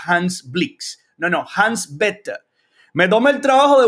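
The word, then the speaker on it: Bethe: y bastante relevante y Hans bet bet se pronuncia así bastante incómodo para un hispano parlante pronunciarlo en estos términos Pero bueno Ese es el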